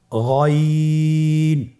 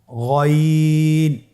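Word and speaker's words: غين: এখান থেকে উচ্চারণ করুন গইন। আবার বলুন গইন। আমরা অনেকে বলে থাকি গাইন, না, এটা ভুল উচ্চারণ। এভাবে উচ্চারণ করা যাবে না, যেহেতু হরফটি মোটা, এই জন্য মোটা করে উচ্চারণ করতে হবে গইন।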